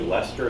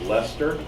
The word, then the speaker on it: Leicester: and teaching in England and the University called Leicester University it looks like it's spelled like sister but it's actually Leicester to pronounce Leicester and he does genetics research and I found